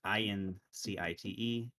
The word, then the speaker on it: incite: i know the favorite my favorite example is insight and insight those are two different words i-n-c-i-t-e i-n-s-i-g-h-t and that's a true minimal pair in sight incite violence and insight i have insight into how ben thinks and right that's a stress minimal pair right correct that's a